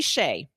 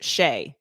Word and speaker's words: Skjei: all night worried about this wondering okay Brady Shay friend he has a complicated last name to spell it is spelled SK ji pronounced sheay obviously naturally let's create a way to remember